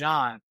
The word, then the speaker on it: Bijan: His name is Bijan. He got mad in an interview that you guys are saying my name wrong.